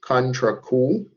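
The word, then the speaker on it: contrecoup: of external forces uh cool contra cool that's all that word is pronounced it's french is basically an injury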